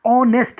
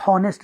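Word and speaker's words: honest: निकालता है, an hour, H जो यहाँ पे साइलेंट है, ऑनेस्ट हम पढ़ते हैं, हॉनेस्ट नहीं पढ़ते हैं।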